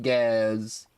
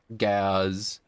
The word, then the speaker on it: Gaz: Anyways, my name is pronounced Gaz. Gaz. It's a weird enunciation.